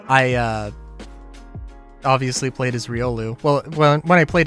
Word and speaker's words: Riolu: the only except uh I did not pronounce Riolu as uh Riolu I pronounced it as Riu because I was a